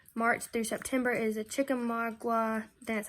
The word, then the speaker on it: Chickamauga: March through September is a Chickamauga, that's how you say it.